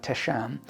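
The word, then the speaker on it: तेषाम्: meditation project in learning a word pronounced like tesham which means unto them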